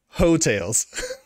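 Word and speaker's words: Heaux Tales: called well it's spelled yeah yeah the album is spelled h-e-a-u-x tails hotels all right that's solid yeah i i my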